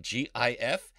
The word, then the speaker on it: GIF: Pronunciation is contentious, like GIF. Is it GIF for graphic interchange format with a hard G, or is it GIF like the peanut butter?